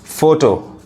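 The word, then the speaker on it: photo: पढ़ा रहा है फोन पी एच ओटी ओ फोटो ग्राफ फिलोसोफी यहां भी पीएच फ यहां भी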